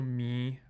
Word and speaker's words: Me: So that's nasalized E, so Me with low tone, and then the other language is called sásjut with high tone on both syllables.